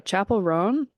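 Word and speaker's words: Chappell Roan: I butcher her name I'm really bad at pronouncing things sometimes especially names uh Chapel rone that's how you say it um I'm not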